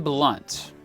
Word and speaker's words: Blount: Number 9, William Blount. Yeah, that's how you pronounce his name.